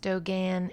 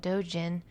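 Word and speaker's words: Dōgen: I Dogen Koso Joyo Daishi or Busho Dento Kokushi and more commonly just Dogen, although I've also heard it pronounced Dogan and Dojan was born in the year 1200 and died in 1253.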